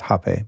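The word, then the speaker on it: rapé: And they sell legit hape. It's kind of spelled like rape, but it's pronounced hape by most.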